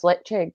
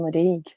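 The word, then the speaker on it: Ledaig: When did you learn how to pronounce lechik rather than Ledig?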